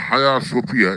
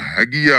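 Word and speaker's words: Hagia Sophia: দেখলেন যে এখানে উইকিপিডিয়াতে হায়া সোফিয়া, এখানে HAGIA, উচ্চারণ যদিও হ্যাগিয়া হওয়ার কথা, আমরা বাঙালিরা সেভাবে উচ্চারণ করব, কিন্তু এটা আসলে হবে হায়া সোফিয়া।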